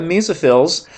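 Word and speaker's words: mesophiles: if you look at the Mesa fills or phil's Mesa sounds kind of funny but that's how it's supposed to be pronounced but many many people say mezzo as well but anyway sorry off-topic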